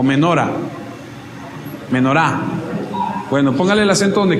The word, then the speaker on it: Menorá: Hay una dentro de todas esas fiestas que se llama, y perdónenme porque soy terrible para los acentos, tiene el acento en la A. ¿Menorá o menora? Menorá.